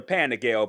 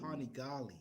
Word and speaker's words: Panigale: That is I've always wanted a Panigale, but I don't know how to ride a bike, so I'm never gonna step A up to what?